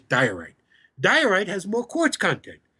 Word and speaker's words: diorite: It's pronounced in English diorite.